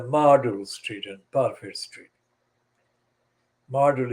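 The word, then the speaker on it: Myrdle: street and perfect street model is spelled m-y-r-d-l-e very similar to the spelling of the english word model the name martin the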